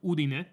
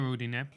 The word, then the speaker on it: Udine: They're from a place called Udine. Well, not a town near Udine. Good pronunciation, by the way.